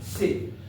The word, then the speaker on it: sec: How to pronounce? Sec.